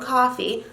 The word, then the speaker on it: Coffey: Actually, I rewatched the movie right up until the point where John Coffey, like the drink, but not spelled the same, is about to biff it.